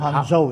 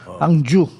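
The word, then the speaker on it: Hangzhou: juu yan ho yyung Ah sama ng pronunciation ko Sabi ko hango e hangu hang juu Okay tama tama ka yung lake City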